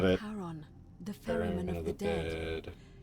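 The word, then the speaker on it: Charon: It's just as you described it, only your pronunciation is a little off. The name you heard wasn't Karen. It was the Karen A. Yeah. Okay. Okay. I got it right before she said it. Karon, the fairman of the dead.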